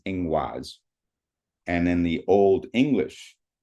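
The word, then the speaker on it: Ingwaz: The protoger Germanic um word for this symbol is ingaz and then the old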